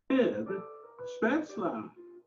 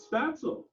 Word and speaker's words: Spätzle: Spätzle, or as the Americans prefer to pronounce it, spatzel.